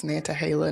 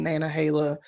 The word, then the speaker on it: Nantahala: And people say it different ways, Nantahala, Nana Hala, like I spell it phonetically, I say it phonetically, so.